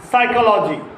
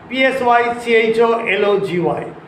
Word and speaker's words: psychology: Some words beginning with P remains unaccented, remains silent. Psychology, P-S-Y-C-H-O-L-O-G-Y, psychology.